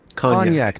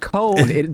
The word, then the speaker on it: cognac: Kgnac is I've said it correctly. If you listen to Google's pronouncing it, it is Kgnac, not cone.